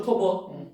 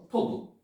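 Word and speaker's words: טוב: 토부. 여기 토부입니다. 자, 한번 해보겠습니다. 토부. 그래서 하나 배울게요. 요 단어 글자 위에다가 점이 찍히면 O 발음입니다. 여기에 T 발음이죠. 테트죠. 여기에 버 발음이죠. 그래서 토브라고 읽는 겁니다.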